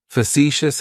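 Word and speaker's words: facetious: describes me is fous fous has three syllables and the stress is on that second syllable it's like you're just saying the letter c for C that first syllable has that schah that uh sound fous fous fous means not to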